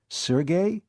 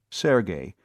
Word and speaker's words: Sergey: she'd been playfully pinched Sergey you mean Sergey pvic the fiend of Florence she pronounced the name properly Sergey instead of Serge as too many people